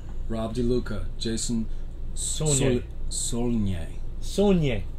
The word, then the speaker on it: Saulnier: Saulnier. Saulnier. There you go. Yeah. I know how to spell it, but I'm not sure I knew how to say it.